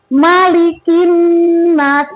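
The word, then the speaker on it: مَلِكِ النَّاسِ: Malikinas ini kaf ya, K bukan ko. Ko sama kaf beda membacanya. Malikinas bisa ya.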